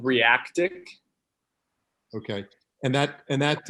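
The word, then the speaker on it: Reakt: you yeah okay um it is r e a k t i guess it's called react but with a k and that's i've been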